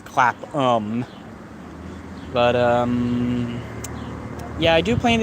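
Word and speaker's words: Clapham: it right that time instead of clap ham it's clap um but yeah I do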